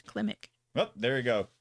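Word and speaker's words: Klimek: Kilmick? How do you pronounce that? Well, if you spelled it right, it says Klimick. Oh, there you go. Klimick.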